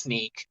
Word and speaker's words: SN3K: should know um that I pronounce his name as sneak um and literally it's like that it's SN 3K you would think it's sneak because I thought it was a big of the three um and people call